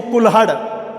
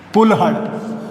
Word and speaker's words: कुल्हड़: जैसे मैं लिखूं कुल्हड़, क्या लिखा, कुल्हड़। अब देखिए ये है कुल्हड़। अब मैंने जब उच्चारण किया तो ये जो ल है किसके साथ उच्चारित हुआ, इस कुल के साथ, कुल्हड़।